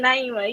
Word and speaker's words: Naimah: Naima.